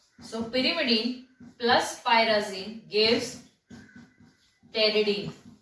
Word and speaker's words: pteridine: So pyrimidine plus pyrazine gives pteridine. P is silent, okay? Friends, P is silent, pteridine.